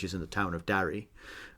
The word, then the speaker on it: Darry: in the town of Darry. And I pronounce that Darry. Yeah. You're more Derry. Oh, okay. Just Darry. Just a little bit to me, but... It's my Western Pennsylvania accent.